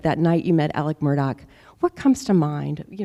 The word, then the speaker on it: Murdaugh: family that it involved the Murdaugh family, excuse me, or as they pronounce it, Murdaugh.